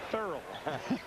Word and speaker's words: Thurl: 12 to six lead I got to pronounce that right my wife kept thinking I was saying Pearl Bailey it's Thoreau here's Jordan in for the